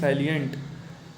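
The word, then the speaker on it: salient: सैलिएंट का मतलब होता है मुख्य, साइलेंट नहीं सैलिएंट, पता नहीं और पता नहीं क्या प्रोनाउंसिएशन होता है, लेकिन वो साइलेंट नहीं है, सैलिएंट लिखा हुआ है, ठीक है।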